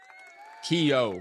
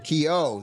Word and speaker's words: Kehoe: Kehoe. Kehoe. The H Kehoe. is silent. Change the H to a Y, Kehoe. sound-wise. Like Kehoe. Kehoe.